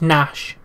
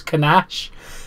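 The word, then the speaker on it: Knash: He has confirmed the name is Nash, because it starts with a K, so I thought it was Kanash. The K is silent.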